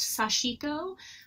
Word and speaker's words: sashiko: have heard it pronounced sashiko which is the american style of emphasizing that center syllable the japanese pronunciation is it emphasizes the co at the end of the word you can say it